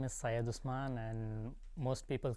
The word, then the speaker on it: Syed Usman: my name is Saya dusman and most people call me Syed because it's easy for them to pronounce my first name and I'm born from